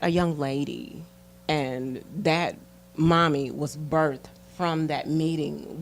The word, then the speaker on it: MOMI: Yes, there's one called Mommy. Mommy is really dear to my heart because that's what my son calls me. Okay. But I spell it MOMI, and it's Mothers of Mental Illness.